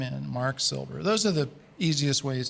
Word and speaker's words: Silber: in my name mark silver make sure you spell it ma RC yep si si el ber si el BER silver same thing in Amazon you can